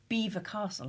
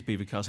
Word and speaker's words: Belvoir Castle: Chatsworth and Belvoir Castle, apparently that's how you say it. I can't think. Yes, it is Belvoir Castle.